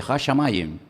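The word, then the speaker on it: השמים: Hashamayim.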